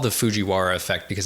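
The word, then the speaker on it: Fujiwhara: I like that you're going to make me pronounce this. Put it on. Yeah. Uh, it's the Fuji Wara or WA effect.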